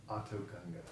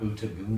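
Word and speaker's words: Otoh Gunga: How do you pronounce it? They're on Autogunga. Autogunga, not Utagunga?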